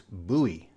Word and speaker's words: Bowie: with this one here you might think it's like the singer David Bowie but if you're in Maryland or Texas you know that it's buoy I think most people